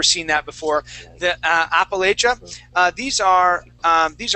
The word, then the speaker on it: Appalachia: pronunciation it would be Appalachia Appalachia and we're going to use a cha sound Appalachia Appalachia good nice job very good